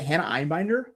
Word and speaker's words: Einbinder: of stand-in for Matt Johnson, where is it Hannah Einbinder?